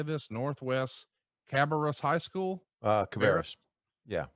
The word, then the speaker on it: Cabarrus: Cabarrus. Yeah, Cabarrus.